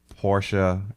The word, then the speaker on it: Porsche: Is it true that Porsche is a two-cllable name?